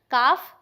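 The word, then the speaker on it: calf: अब इसकी बेबी को बोला जाता है काफ, और इसकी दो प्रोनाउंसिएशंस हैं, काफ, दूसरा कैफ।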